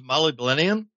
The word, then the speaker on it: molybdenum: Do you ever use molybdenum for hardening? Yeah, molybdenum.